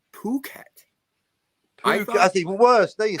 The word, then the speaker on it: Phuket: So you are under the impression that that word is fuck it. That's what it looks like to me. Yes. Yes. Captain Infinity, would you like to pronounce the location correctly, please? I once went to the town of Fuket. I thought, "Oh, fuck it. Why not?" I thought it was No, I thought it was Puket.